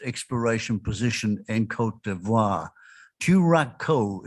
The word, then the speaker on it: Turaco: position in cote d'ivoire turakko is how you pronounce it it's a local bird of cote d'ivoire meanwhile we mate we